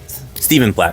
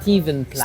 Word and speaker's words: Stephen: Stephen Plat. Steven Plat. C'est aussi un gros artiste d'années 90 qui est très populaire. Donc souvent il Moon Cover que le français c'est compliqué. PH ça se prononce V.